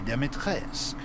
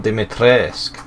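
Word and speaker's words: Dimitrescu: first you've already met the lady demetrius oh dimitressk oh the year is silent sorry second lives deep in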